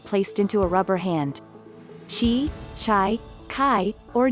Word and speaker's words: qi: meridians these pathways allow energy she pronounced chi to circulate through the